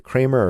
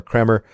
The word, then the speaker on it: Kremer: Dean Kremer, I believe it's pronounced Kremer, I'm not sure, is it Kramer or Kremer?